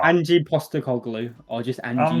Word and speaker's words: Postecoglou: I always want to say Petroglou. Yeah, like the Fulham player. Yeah, I don't know why. Postecoglou. I'm not far off, am I? Angie Postecoglou, or just Angie.